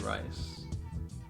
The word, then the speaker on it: Rice: It's pronounced Rice. That's what you just said, Rice.